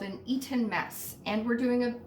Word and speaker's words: Eton: According to Google, an eaten mess. And I say eaten like I'm the person who pronounces that other T in Toronto.